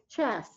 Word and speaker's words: chess: it make sense then chess there's no there's no T sound at the end of that word do you does he have a chest set can you sell